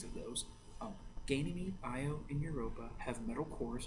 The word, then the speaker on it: Io: so it moves it our size of planets I oh that's how you pronounce this one io literally io is covered with actively erupting volcanoes